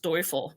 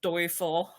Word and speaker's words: Deufel: your name right well my last name is pronounced doel but nobody nobody ever knows that I never get offended by it um you could probably hear from my accent I was born and raised in Germany okay so is pronounced doyel that makes sense that